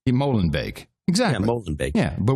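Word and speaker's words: Molenbeek: is the only news Outlet who will correctly pronounce the word Molen bake that is how you pronounced the town Molen bake Molen bake exactly Molen bake yeah but what do we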